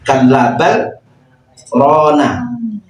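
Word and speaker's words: كَلَّا بَلْ رَانَ: itu garibnya terlapat pada saktah kalla bal rona bal itu berhenti sejenak tanpa bernafas itu namanya bacaan saktah ini terdapat pada surah Yasin biasanya di kampung-kampung saya sering ikut ketika yasinan, undangan di kampung-kampung atau rutinan itu Bapak-bapak maupun Ibu-ibu bacanya biasanya enggak Sakta seperti itu kalla balubihim mau yaksibun tanpa saktah. Itu berarti keliru sebenarnya.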